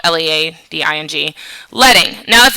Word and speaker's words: leading: It's pronounced L-E-D-D-I-N-G, but it's spelled L-E-A-D-I-N-G.